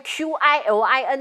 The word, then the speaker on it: Qilin: 音啊麒麟你应该用 QILIN 啊，怎么用 KIRIN 呢？